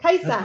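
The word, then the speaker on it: Kajsa: That's Kaisa. just the Hi. mama. That's I my know, mom. but he's asking how to pronounce her name properly first. In Sweden, the J makes an I. So Kaisa.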